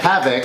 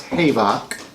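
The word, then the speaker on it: Havok: Andy cyclopses younger brother hey buck hey beau no no it's HAP havoc like you he's younger brother havoc I like to used to pronounce hey bak Maria hill yeah for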